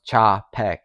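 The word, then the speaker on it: Czapek: that a lot of people look over it's pronounced chaek thanks for that dude um for those who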